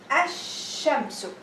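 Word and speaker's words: الشمس: on the third letter, you're going to skip the lam and you say ash-shamsu.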